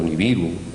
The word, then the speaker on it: Nibiru: había habido un planeta llamado Nibiru, o Neberu, como se tendría que pronunciar correctamente, y que este planeta tenía una órbita elíptica de unos 3.600 años y que constantemente aparecía por aquí.